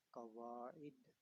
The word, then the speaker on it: قواعد: طریقے سے پڑھ پائیں۔ یہ ہے قواعد، عین کے نیچے کسرہ پڑھنا ہے، قواعد النحوی۔ بعض لوگ